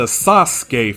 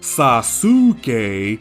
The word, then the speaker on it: Sasuke: This also applies to Sasuke from Naruto. The oo is in between two letters that aren't sonorants, so the oo is quiet, so we're not calling him Sasuke like the German dub does.